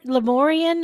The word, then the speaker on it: Lemuria: This is like Mickey Mouse, So are you saying that Lemurian or Lemora, how do you say that?